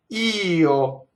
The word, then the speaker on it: io: So here we have a word that passes itself off as one syllable, and it's actually two syllables. You have to sing two notes to sing the word io, right? It's actually one note with a little grace note, right?